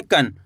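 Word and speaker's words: कं: इसी तरीके से यहाँ पे का में लगी अंक की मात्रा तो कैसे पढ़ेंगे? कन।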